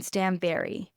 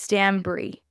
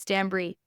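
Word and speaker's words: Stanbury: but it's not Caroline Stanberry it's Stan Bri Bri as in like it obviously it's spelled b r y but it's pronounced like the cheese like bri b r i e different than Stanberry and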